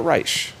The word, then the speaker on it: Reich: Well, Professor Robert Reich, appropriately named, spelled like Reich, but he pronounces it Reich for obvious reasons.